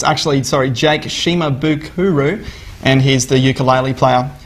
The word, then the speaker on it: Shimabukuro: Kathy accidentally pronounced the name wrong. It's actually, Jake Shimabukuro, and he's the ukulele player.